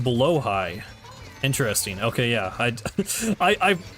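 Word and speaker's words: Blåhaj: just having some other kind of mode it's pronounced blo High interesting okay yeah I I i' I know a lot of people say blahaj but then I remember hearing that that was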